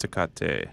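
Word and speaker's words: Tecate: a fighting spirit or takati takati is good yeah no wow not a fan i always heard it pronounced decate oh all right sorry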